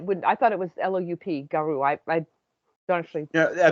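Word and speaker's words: loup-garou: There's a P in the spelling of it, but There's not in the actual pronunciation. Okay, Like a that makes sense. well-kept, like a well-kept pool, there's no P.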